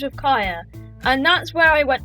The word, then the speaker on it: Kiah: But pretty much why I named myself Kiahonfire is because 1, so people can pronounce Kaya right, and 2, fire rhymes with Kaya and fire is cool.